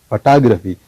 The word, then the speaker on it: photograph: So you can find this accent mark on the second syllable photography.